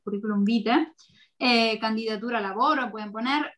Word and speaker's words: vitae: podemos poner, por ejemplo, si están enviando un currículum que se escribe vitae, pero se dice en italiano vite, currículum vite.